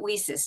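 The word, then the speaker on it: WiCyS: they're saying it they're they're pronouncing it whis now and it's for wi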